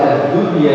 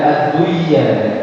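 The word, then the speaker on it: الدنيا: Jea ya P jemaah Jadi kalau baca addunya jelas addunya jang adduya jadi para ulama sepakat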